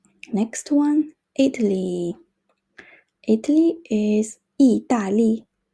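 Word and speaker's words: 意大利: one Italy Italy is 意大利意大利 it's kind of similar to English I think the pronunciation 意大利 and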